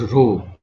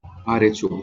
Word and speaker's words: rho: and it is pronounced as rho, R-H-O, rho.